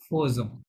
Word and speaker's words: faisons: এখানে বেসিক্যালি লেখা আছে ফেজন লেখা আছে, হ্যাঁ, কিন্তু ফরাসিরা বলে ফোজন, এটা একটা এক্সেপশন, ঠিক আছে। লেখা আছে ফেজন, বলে ফোজন, সুতরাং তারা যেভাবে বলে আমাদেরকে সেভাবেই চলতে হবে, ঠিক আছে।